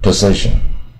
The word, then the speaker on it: possession: 那名词呢啊，这个 possession 啊，它的重音在第